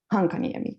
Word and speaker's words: Hankaniemi: I'm from Finland, as you know, and you say Hankaniemi. It's totally fine. I'm used to every kind of pronunciation of it.